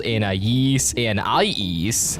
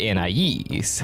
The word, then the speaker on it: Anais: In this episode, Gumball sometimes calls Anais Anais, let us in! instead of the more commonly used Anais. Come back, Anais! This was always really confusing because these two pronunciations are very different, so it never made